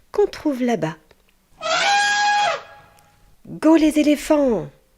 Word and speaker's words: éléphant: Regardez bien l'orthographe du mot éléphant. Ici, le son F est formé par la lettre P et H. P et H va former le son F. éléphant.